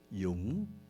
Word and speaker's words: Dung: And I say, "Dung."